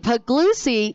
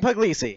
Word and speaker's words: Puglisi: way through the pack it is Puglisi put glue see how way say it right Dillon Puglisi yeah that's how you do it yeah do it one